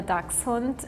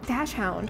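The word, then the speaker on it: Dachshund: Really shocked about the dakunt. I've never heard someone pronouncing it as what was it? Um, dashhound. Yeah, dashhound. That's so interesting. I didn't know it sounded like that in German.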